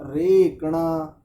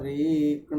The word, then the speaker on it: रेकण: श्रेष्ठा रेकण स्वत्यभि यावाममेति, श्रेष्ठा रेकण स्वत्यभि, स्वत्यभि रेकण स्वत्यभि, ऐसा उच्चारण। जभी बोलना है। रेकणा, इस शब्द का उच्चारण ठीक नहीं था।